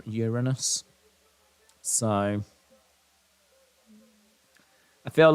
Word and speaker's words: Uranus: I'm an astronaut and my next mission is Uranus doesn't really make much sense unless you pronounce the planet incorrect but uh I get